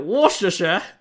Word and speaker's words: Worcestershire: some like pepper and Worcestershire sauce. How do you say that word? Isn't it Worcestershire? Sure. Yeah, Worcestershire. It's just, I feel like it has more letters than that.